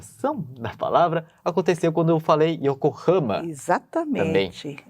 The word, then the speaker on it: Yokohama: aconteceu quando eu falei Yokohama. Exatamente. É a mesma coisa, não só a nasal, que a professora Mitsuko falou, né, levantou, mas a questão da paroxitonação. Não é Yokohama, mas é Yokohama.